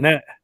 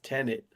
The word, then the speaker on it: Tenet: Tenet. That's Tenet. Tenet. It's Tenet. Well, you pronounce the T either way. It's not silent.